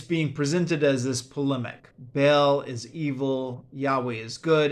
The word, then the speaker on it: Baal: ball Bell b ball how is it pronounced Bale I think is how it's usually pronounced right um now yeah I